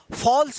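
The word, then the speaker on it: false: है ना, single L है, तो क्या होगा, फॉल्स पढ़ेंगे, क्या पढ़ेंगे, फॉल्स, फॉल्स मतलब होता है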